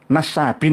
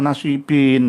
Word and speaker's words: nasabin: Nasabin harusnya bukan nasibin.